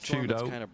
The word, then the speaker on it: 4YDO: For Twisted Minds, if you weren't aware, 4YDO is pronounced Chudo.